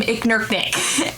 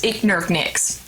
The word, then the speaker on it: Iknurknix: He pronounces my character's name Iknurknik, and I guess it rubbed off on me. His real name is Iknurknix, and the K and the X is a very, very special difference.